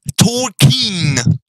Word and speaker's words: Tolkien: Bref, c'est, pour la dernière fois, hein, c'est Tolkien. In. Comme la pin.